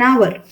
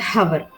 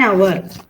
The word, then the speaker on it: hour: honest honor these words in these words H is silent so you have to pronounce it as our I am waiting for an hour not hover then you can tell